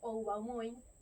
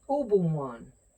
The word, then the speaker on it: Oubao-moín: Pero la O y la U en francés no se lee OU. Se lee U.